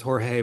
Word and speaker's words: Jorge: I used to always think it was Jorge, but then a guy from Portugal was like, no, we pronounce it George here in Wow.